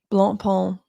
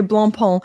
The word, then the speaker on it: Blancpain: I'm just trying to do it the French way. I think that's what they do. They say Blancpain. Because I got in trouble for saying the C.